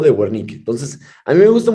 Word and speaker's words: Wernicke: el área de fernique Acuérdate que dice guarnique pero pues se produce con v pero pues lo vamos a pronunciar como fernique que es la forma correcta de pronunciarlo pero es el otro